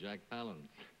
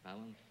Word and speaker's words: Palance: I pronounce it Jack Palance. Palance. Mm-hmm. How did you happen to pick that name? Jack Palance? Yeah. Oh, it was sort of one of those things, Palahniuk. Nobody could pronounce it. They said, we'll call you Palansky, and from Palansky I took Palance.